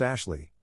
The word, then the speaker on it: Ashhliegh: You know, I almost named my daughter Ashleigh, spelled Ashhliegh, pronounced Ashley, but Jake stopped me because he said it was too unique.